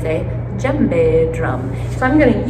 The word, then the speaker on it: djembe: It's called a djembe drum. It's spelled D-J-E-M-B-E.